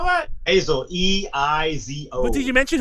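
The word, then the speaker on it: Eizo: Ezo. How do you spell that? Azo, E-I-Z-O.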